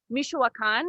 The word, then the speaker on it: Michoacán: was born in mexico and raised in um michoacan is that right wendy did i say it